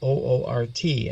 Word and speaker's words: Oort: That's how it's pronounced. And then you have beyond that, you have an Oort belt, Oort, and that's a belt of icy objects as well.